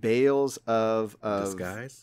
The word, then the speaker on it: Tales of Arise: I'm assuming it rhymes with Bales of Disguise.